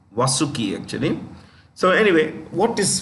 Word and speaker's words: Vasuki: Super Vasuki, or you could say Vasuki, depending on your pronunciation. Vasuki, actually.